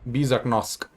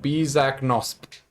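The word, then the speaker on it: Bisaknosp: I'll spell it in a second. Give me a moment. Bizaknosp. B-I-S-A-K-N-O-S-P. Bizaknosk. No, Bizaknosp.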